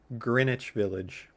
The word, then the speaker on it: Greenwich Village: get that in my head, but it is pronounced Greenwich Village.